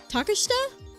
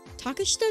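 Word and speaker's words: Takeshita: Um, oh, by the way, you don't pronounce the I. Oh, taka. Oh gosh, how do you say that? Think of it like Tasha. Tash Tashta Tashta. Tashta treata street.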